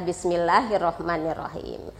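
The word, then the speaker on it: بسم الله الرحمن الرحيم: yang Ibu dengar ini anak-anak sering membaca Bismilah hirohmanirohim Padahal di sini ada tas di dalam roh jadi harusnya membacanya Bismillahirrohmanirrohim ya Nah kemudian yang sering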